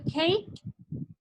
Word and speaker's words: cake: ustedes digamos tienen su método de aprenderse la pronunciación de las palabras ok bien entonces la otra que vendría siendo cake hey si se fija en la no tiene